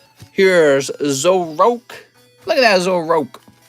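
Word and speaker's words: Zoroark: zoroak look at that as a rock that's his real name that's how it's pronounced uh we've got rk9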